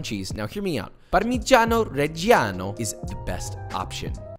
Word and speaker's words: parmigiano reggiano: grams of parmesan cheese now hear me out parmigiano reggiano is the best option like that pronunciation by the way italians can we get